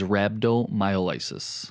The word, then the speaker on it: rhabdomyolysis: Today's topic is rhabdomyolysis.